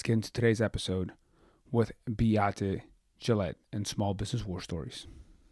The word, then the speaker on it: Beate Chelette: Without further ado, let's get into today's episode with Beate, Chelette, and Small Business War Stories.